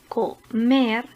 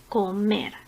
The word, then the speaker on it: comer: Por ejemplo, la palabra comer es una palabra aguda porque tiene la sílaba tónica en la primera sílaba comenzando por el final. Mer, comer.